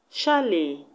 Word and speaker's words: chalet: The T in ballet is silent, just like the T in chalet. So the last syllables are pronounced A. A. Ballet. Chalet. Unlike the rest, where their T's are pronounced.